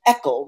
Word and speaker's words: ECHL: They have what they call an ECHL, rhymes with freckle, and it stands for existing chemical exposure limit.